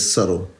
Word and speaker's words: subtle: you subtle but it's subtle I don't know why I was saying the B to B is silent subtle mystery somebody said